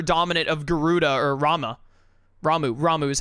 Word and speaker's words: Ramuh: Ramuh is how they say it.